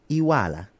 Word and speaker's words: Iweala: So Akunyili, that's the pronunciation. And it's Iwala.